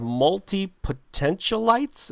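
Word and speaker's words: multipotentialite: group of people that you referred to as multi-potential lights is that how you do how am i pronouncing that right it's multi-potential it's you got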